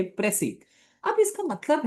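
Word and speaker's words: précis: प्रसी अब इसका मतलब है प्रिसाइज दरअसल इसे प्रोनाउंस ऐसे करते हैं प्रसी लेकिन स्पेलिंग देख तो प्रिसाइज है प्रिसाइज से मुराद होता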